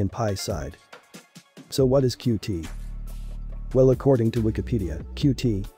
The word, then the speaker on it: Qt: So what is Qt? Well, according to Wikipedia, Qt, pronounced as Qt, is a widget toolkit for